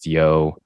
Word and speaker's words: DZO: It's called Neon Nights Comedy Night, which follows by live karaoke at Dizo, spelled DZO, pronounced Dio, Viet Eatery, right across from the AGO in Toronto.